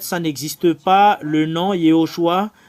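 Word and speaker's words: יהושע: En fait, ça n'existe pas le nom Yehoshua. Ce qui est vrai, avec le nom que Moshe a envoyé, c'est Yehoshua.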